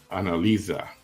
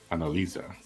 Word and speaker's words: Analisa: tell me that's cool so the S is pronounced as a z so Analisa Analisa oh okay yeah I